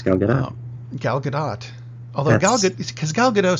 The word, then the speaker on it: Gadot: Apparently the T is pronounced. It's Gal Gadot.